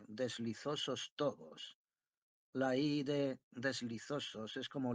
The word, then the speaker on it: deslizosos: La I de deslizosos es como la I de amistosos, y tobos se pronuncia de manera que rime con lodos.